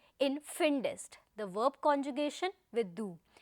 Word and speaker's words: findest: Dear friends, please remember that the extra E that you see after D, alphabet D, it has been added so that the pronunciation becomes easier. Just see, if there is no E there, it will be difficult for us to pronounce this particular word. Finst, it doesn't really goes that smooth, no? So, in order to make the pronunciation easy going, an extra E is added there.